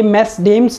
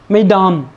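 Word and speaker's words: Mesdames: मेस, और इसको मैडम, ये मेस डेम्स नहीं है, इट इज़ मैडम।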